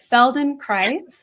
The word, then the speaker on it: Feldenkrais: And so this is part of that I'm not going to say it right, Feldenkrais method.